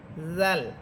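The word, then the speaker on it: ز: এরপরে হরফ হচ্ছে জা। জা এটা ঝিঝি পোকার মতো আওয়াজ হবে।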